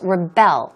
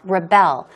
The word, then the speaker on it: rebel: to Rebel a little this word is a noun and a verb as well it's pronounced differently in this case it's a verb so it's pronounced as Rebel Rebel they're not going to